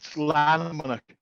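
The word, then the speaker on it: Llanymynech: So obviously the first question is how do you pronounce the Junior Football Club's name? It's Lanarmonach, and it's quite a unique place.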